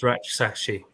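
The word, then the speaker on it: Rak-Sakyi: It's not Rak, it's Ratchsachi.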